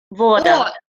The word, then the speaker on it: вода: And Voda. O is stressed. That's why we pronounce O.